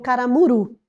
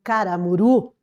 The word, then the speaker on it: Caramuru: Rita Durão, que escreveu Caramuru. Então eu trouxe ali para vocês a capa, perceba que caramuru recebi o acento tônico, né, ali na vogal U, na última sílaba, coisa que não existe